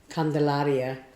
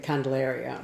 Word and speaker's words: Candelaria: uh Hispanic like um Candelaria is one of the streets and most people say candalaria or whatever and as matter of